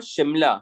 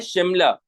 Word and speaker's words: शिमला: हिंदुस्तान का ये जो शहर है इसका नाम है शिमला. हिंदुस्तान का जो शहर है इसका नाम क्या है? शिमला. उसका प्रोनाउंसिएशन क्या है? शिमला.